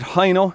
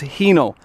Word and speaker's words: Hino: Now, a lot of people would pronounce it Hino in Ireland, but the correct pronunciation is Hino.